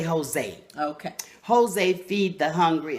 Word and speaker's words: Hosea: Some people say Hosea, Hosea, but I say Jose.